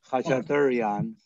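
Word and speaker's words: Khachaturian: Armenians pronounce it Kachaturian, and the letter T doesn't exist in our language. Some people go to T and some people go to D.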